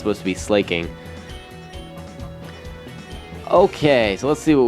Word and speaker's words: Slaking: want to pronounce it I think it was intended to be slaking because slacking just sounds stupid and it would be slacking I mean if it had a C that would make more grammatical sense I